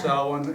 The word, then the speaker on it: Samhain: holidays that the witches and the pagans have salad is on October thirty-first Halloween the witches new year it's pronounced seven it's spelled samh a and E and it's